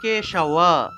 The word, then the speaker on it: কেশব: তাহলে অজ্ঞান তিমিরান্ধস্য, জফলা থাকা ইয় উচ্চারণ, ব্রতে না নেন কেশব, এই যে বটা, এই ব হলো অন্তস্থ ব, অন্তস্থ বকে ওয়া হিসেবে উচ্চারণ করতে হয়, অর্থাৎ ওয়া ওয়া।